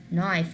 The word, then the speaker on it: knife: I will not pronounce the K again, and I will pronounce the N, so it's gonna be knife.